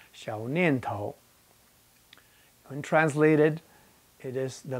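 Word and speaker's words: 小念头: Now, the first form, Xiu Nian Tao, in Putonghua is pronounced Xiao Nian Tao.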